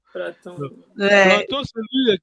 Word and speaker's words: Platon: Donc, comme les Anglais disent Platou. Mhm. Et le portugais Plantan. Ok, c'est beaucoup. Platon. Donc, Ouais. Platon, c'est lui qui a Là, commencé tu vas l'université. confondre Platon et Platon.